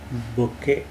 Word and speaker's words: bouquet: So that is the word బొకే. BOUQUET. T is silent.